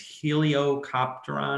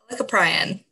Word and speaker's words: Helicoprion: not coming to me it's heliocopteron or something like that but it is this shark oh do you know it helicoprion molecule prion yeah i just pronounced it wrong so it's got this